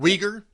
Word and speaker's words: Uyghur: us with the yogurt how to pronounce the the muslim minority how do you find out weaker weaker thank you yeah the uyghur uh